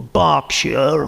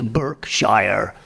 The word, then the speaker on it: Berkshire: And then there was John Elwes, Member of Parliament for Berkshire, which the Americans insist on pronouncing as Berkshire, because it's spelt that way.